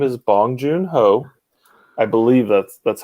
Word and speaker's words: Bong Joon-ho: uh uh same director who did snowpiercer yes bong joon-ho yeah he's it's fantastic what's that what did you call me though i did not call you anything his name is bong joon ho i believe that's that's how you pronounce it